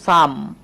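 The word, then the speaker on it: some: শব্দের শেষে ই আছে। ই কিন্তু সাইলেন্ট আছে। মনে রাখতে হবে। ইটা কি আছে? হ্যা অবশ্যই এখানে সাইলেন্ট হয়ে যাবে। তো এখানে কিন্তু আ উচ্চারণ করব। তো এটা উচ্চারণ করব সাম।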